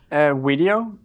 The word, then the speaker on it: Wedio: what does video mean video and it's taken from creating videos where it's not just one video it's us it's we with the w the community that together creates video so we create videos